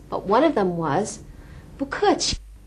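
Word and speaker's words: 不客气: If someone says 谢谢 to you, you can also say 不客气 to them. Let's try this pronunciation. 谢谢. 不客气.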